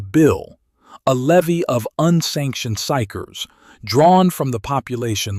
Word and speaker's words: psyker: The figure at the center of this is a psyker pronounced psyker. The P is silent.